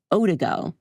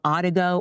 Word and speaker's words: Odigo: There was an instant messaging service that was called Otigo. maybe I'm saying it wrong, Odigo, O-D-I-G-O.